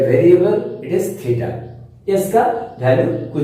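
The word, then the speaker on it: theta: इसको थीटा बोलते हैं, इसको इट प्रोनाउंस एज थीटा।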